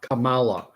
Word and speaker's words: Kamala: day attain Perfection with his leadership and Kam Kamala I found out how to say it now